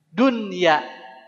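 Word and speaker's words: دنيا: itu adalah bacanya duya karena izhar mutlak jadi bacanya Dunya ya ini Buyan secara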